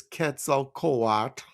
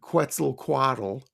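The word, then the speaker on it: Quetzalcoatl: the second world is ketal koat and I'm pronouncing it like the the Aztecs would people often call him Quetzel Quaddle. Okay, the feathered serpent god. Ketzel Kawat was the second sun ruler.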